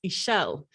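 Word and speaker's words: Ixchel: Because if you don't know the goddess Ishel, it's a Mexican goddess. It's spelt the same way, except it's got the X in it. And obviously the X isn't pronounced. So it's Ishel.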